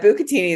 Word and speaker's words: bucatini: And the pasta is, do you say it bucatini?